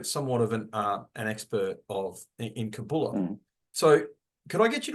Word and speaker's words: Kabbalah: The word Kabbalah, which is the modern Hebrew pronunciation anglicized, and the more colloquial pronunciation of older times is Kabbalah. But I'll use the modern one, Kabbalah, just for the sake of being consistent here.